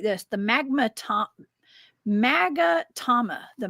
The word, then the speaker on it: magatama: it like this: the Magatama. The Magatama, I think is how you say that.